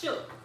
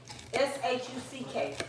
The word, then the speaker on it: shuck: Shook. S-H-U-C-K. Oh, shuck. That's Shucking corn. where you pronounce it. Yeah, sure. But I say shucking corn.